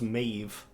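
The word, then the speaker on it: Medb: mave which is me DB um but it's pronounced mave and like Finn mol as as we would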